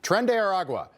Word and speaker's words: Tren de Aragua: The first, the way that woman decided to pronounce Tren de Aragua. She knew it was awkward. Why do that? Why are you doing that? Just Tren de Aragua. You don't need to Tren de Aragua.